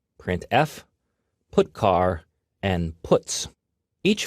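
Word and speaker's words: printf: these three are the most popular they are pronounced print F put car and puts each function is designed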